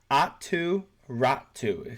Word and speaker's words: Aatu Räty: So Cap Friendly, the reason I'm using this one is because, by the way, Aatu Räty, he's Finnish, so that's how you say his name.